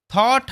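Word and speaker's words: thought: থট হারড টু do something he মানে সে থট হারড মানে গভীর চিন্তাভাবনা করা এখানে দেখো এইযে ও ইউজি এইচটি একত্রে অ সাউন্ড হয়।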